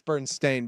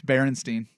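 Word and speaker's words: Berenstain: had Bern stain Bears it's Bern stain by the way barstein stain it's barenstein okay go look it up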